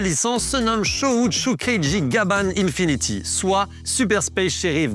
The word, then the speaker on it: Gaban: D'ailleurs, fun fact, en VO, le personnage principal s'appelle Gaban car c'est comme ça que les Japonais prononcent le prénom Gabin. Ce nom a été choisi en hommage à Jean Gabin qui est surtout connu au Japon pour ses rôles de flic.